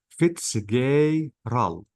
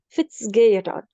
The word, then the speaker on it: Fitzgerald: By the way, Maisa, you can Uh, pronounce this E as A. So I can say Fitzgerald. okay. Fitzgerald.